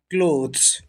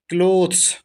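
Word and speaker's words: clothes: आई am washing द क्लोथ्स, इसको क्लॉथ नहीं पढ़ते हैं, इसका उच्चारण होता है क्लोथ्स।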